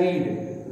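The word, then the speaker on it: read: रीड। रीड का third form क्या होता है? रेड। स्पेलिंग वही रहती है, प्रोनाउंसिएशन चेंज हो जाता है, रीड रेड रेड।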